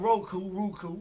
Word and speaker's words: Roku: We're now on Roku. Roku is ROO, like kangaroo.